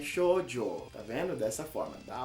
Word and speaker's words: shoujo: O shoujo é assim que se pronuncia, minha gente. Na realidade, eu vou falar a real pra vocês. Eu fiquei quase meia hora tentando aprender a falar essa palavra. E é difícil pra caramba, mas é shoujo.